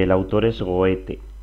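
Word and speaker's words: Goethe: Y el autor es goete.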